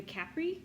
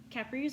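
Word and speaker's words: Kapre: is the the the Capri I think that's how you say it it is ka p r e it's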